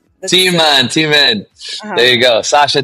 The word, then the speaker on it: Timan: With that, let me bring in director filmmaker Sasha Thyman. Hi Sasha, welcome. Hey. Hi. It's actually pronounced Teeman, but Teeman.